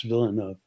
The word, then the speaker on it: Villeneuve: Yeah, I have a friend by the name of Villanueva, which I, is the Spanish pronunciation, yeah. and he said in French it's Villeneuve.